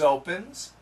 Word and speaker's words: opens: Saunders opens. Saunders opens. Good. Saunders opens. Here, this actually sounds like a Z sound. Opens. There's a little vibration. Opens the.